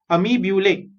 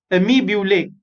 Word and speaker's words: amoebulae: Okay, जैसे फॉर्मूले होते हैं वैसे अमी ब्यूले। Okay, so repeat this word after me। amoebulae, amoebulae।